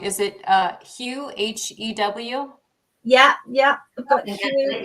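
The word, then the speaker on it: Hew: Would you like to start with excuse me if I pronounce this wrong, is it Hugh, H-E-W? Yeah, I've got Hugh here. Yeah, Hugh, there we are.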